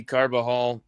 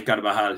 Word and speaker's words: Carvajal: Giovanni Carbajal. Am I pronouncing his name correctly, Mario? Yeah, Giovanni Carvajal, you got it, El Principe.